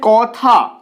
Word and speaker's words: কথা: চলে আসছি পরের উদাহরণে এখানে রয়েছে কথা দ্বিতীয় স্বরে রয়েছে দ্বিতীয় স্বরে কি রয়েছে আ রয়েছে তাই প্রথম স্বরের ক এর পরে যে অটা আসছে সেটা অ এর মতই উচ্চারিত হচ্ছে ও এর মত উচ্চারিত হচ্ছে না এটাকে কিন্তু আমরা বলছি